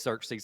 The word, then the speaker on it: Xerxes: It is Xerxes.